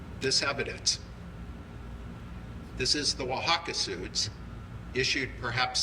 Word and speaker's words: Oaxaca: and the OXA, so you have 3 syllables in that word, like Oaxaca, you know, well, and like I say, the stops for the syllables, and then the TC is Tlaxcala, there's actually 3 syllables there, but you have an extra stop.